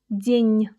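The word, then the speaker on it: день: to make a hard sound soft. You got to just squeeze it a little bit with your tongue. So say "den'". "den'" Great.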